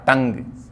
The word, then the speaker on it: tongue: अगर आपको याद है, ऐसे ही हमने किया था टंग, टंग यानी जीभ, जबकि स्पेलिंग उसकी होती है TONGUE। अब देखिए कहाँ टंग की स्पेलिंग, कहाँ लंग की स्पेलिंग, कितना अंतर है, लेकिन सिंबल दोनों का सेम आ रहा, देखिए, क्योंकि साउंड दोनों का सेम है।